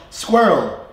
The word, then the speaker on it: squirrel: Squirrel. That's how you squirrel. I mean squirrel. I say squirrel. So for me, it's like I'm slurring my R a little bit more.